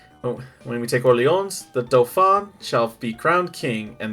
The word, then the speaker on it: Dauphin: When we take Orleans, the Dauphin shall be crowned king, and the English driven away. Dauphin, that's how you pronounce it. Did you say dolphin? Not a dolphin, the Dauphin.